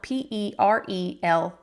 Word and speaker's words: Perelel: But this brand Parallel, I don't even know that I've said that. It's Parallel, Perelel. If I'm spelling that right, it's spelled kind of funky.